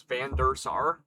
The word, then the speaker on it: Van der Sar: I my last name is Van der Sar. It's said exactly how it's spelled, but I've been called a billion things under the sun.